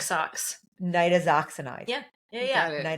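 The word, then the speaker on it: nitazoxanide: Nidazoxinide. Yeah. Yeah. Yeah. Nidazoxinide. That's going to be a struggle for me guys because I've been saying nitoxinide. It's really close.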